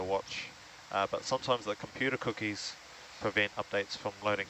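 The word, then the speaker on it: Kuki: And sometimes we spell it in a Cook Islands Māori way, K-U-K-I. Cookie, right? Yeah.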